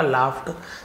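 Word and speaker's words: laugh: लाव औरत हंस पड़ी तो लाफ का लाफ्ट सेकंड फ लगड नहीं पढ़ेंगे फ उच्चारण होता है लाफ औरत हंसी शी थॉट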